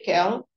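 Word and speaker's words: Kehl: chamado Renato Renato Kelo acho que se pronuncia Kelo e ele fica conhecido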